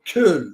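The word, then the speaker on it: Köln: with the cologne philarmonic or kill philarmonic as they pronounce it in Germany does it matter whether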